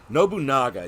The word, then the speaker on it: Nobunaga: it to me I'm going to say his name wrong and I'm going to feel bad so correct me Nobunaga Nobunaga yes you got it right okay I was